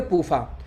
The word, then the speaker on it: PUFA: तो पूफा शॉर्टकट में हो गया, PUFA, इसको शॉर्टकट में पढ़ेंगे पूफा।